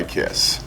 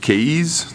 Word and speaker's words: Kaees: out the landmark by Kiss so here's the Box The Landmark comes in and I thought this was pronounced K when I first saw it but according to the manufacturer it's pronounced kiss so along with the